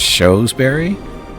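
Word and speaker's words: Shrewsbury: So Skyward the pronunciation of the second one you did shoes. So it's showsberry.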